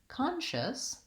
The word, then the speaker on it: conscious: so when I'm saying the word conscious again I have my ah sound con first syllable stress long short and then